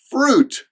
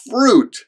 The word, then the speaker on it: fruit: it or fruit it's fruit there's one syllable fruit fruit fruit next up